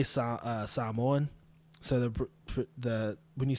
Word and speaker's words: Samoan: But anyway, when I say Samoan, so the when you say Samoa or Samoan, when I say it properly, which is how I'm saying it now, Samoans or Samoans.